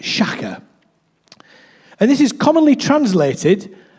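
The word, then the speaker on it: שָׁחָה: It's pronounced shaka.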